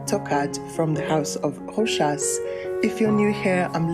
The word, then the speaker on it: Rochas: I'll attach a playlist of all my reviews to this video, but today I'm discussing Tocade by Rochas, pronounced with an S at the end.